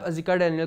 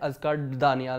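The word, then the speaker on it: Azekah Daniel: ने कहा कि आप अजिका डेनियल का नाम सही प्रोनाउंस नहीं उनका नाम अजिका डेनियल है अजका दानियाल नहीं है किसी ने ये कमेंट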